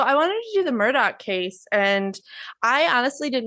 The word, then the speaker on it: Murdaugh: before I get started um he the name is spelled m Ur d a u g but they pronounce yeah but they pronounce it Murdoch with a oh not Murda no that's what